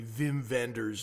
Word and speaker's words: Wim Wenders: And it's 2 and 1/2 hours, it was, uh, directed and written by Wim Wenders, whose pronunciation is actually Vim Venders, if you want to be, uh, accurate to the German pronunciation.